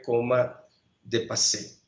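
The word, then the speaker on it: coma dépassé: El título de su artículo, de su trabajo publicado fue Coma de Passé, de acuerdo a cómo se pronuncia en francés.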